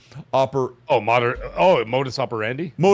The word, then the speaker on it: modus operandi: What was the word the Latin like oper Oh, moder Oh, modus operandi. Modus operande.